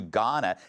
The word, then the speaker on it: Ghana: investigation to her trip to Ghana the H is silent as the LA fires